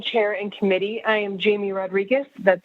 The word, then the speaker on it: Jamie Rodriguez: now good evening chair and committee i am jamie rodriguez that's spelled j-a-m-i-e-r-o-d-r-i-g-u-e-z i'm the government affairs manager for